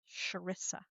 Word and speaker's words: Charissa: seen where she said it's like even though it's CH, but it's like an SH. So, Charissa, Charissa, Not because I not mispronounce Charissa.